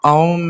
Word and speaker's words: om: the universe so um remember that om has four syllables a m and silence so please join me